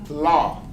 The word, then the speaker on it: law: Esta palabra, law, la W es muda, so la pronunciación es la.